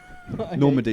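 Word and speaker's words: Normandie: Normandy is spelled like Norman, D-I-E.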